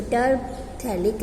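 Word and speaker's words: terephthalic: Here you pH is silent way, so terphthalic acid.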